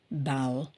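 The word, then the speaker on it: bowel: and then அடுத்தது பாருங்க பவுல் சோ பவல்னு சொல்லக்கூடாது பவல்னு சொல்லக்கூடாது பவுல் சோ பி ஓட வந்து பேவ்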